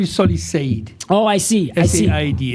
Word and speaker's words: Said: My name is Solly Said. Oh, I see. S-A-I-D. It's also like very mispronounced because it's spelled S-A-I-D. People say Said. Said. Yes. But it's an Arabic word which means Said. Yeah.